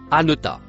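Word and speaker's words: أنت: Le mot en couleur verte se prononce anota.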